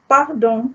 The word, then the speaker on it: pardon: you can say pardon, pardon. Pardon means pardon me. Okay, I share with you this word because it's the spelling is just like English, only with a slight difference in pronunciation.